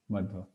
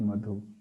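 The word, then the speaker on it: मध्व: Interestingly, many devotees bring up this point here, but it's Madhva Charya, Madhva, and it's not Madhu.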